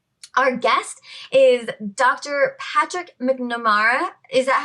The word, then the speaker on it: McNamara: Patrick McNamara. Is that how you pronounce it? Yeah, McNamara. Yep. McNamara.